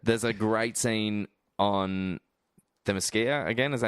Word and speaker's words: Themyscira: There's a great scene on Themyscira, again, is that how you say it? Themyscira, yeah.